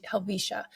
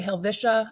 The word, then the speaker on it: Helvetia: Little Switzerland or swiss Community let's call ourselves Alisha um or Helia some locals say helva it has an e in it so that's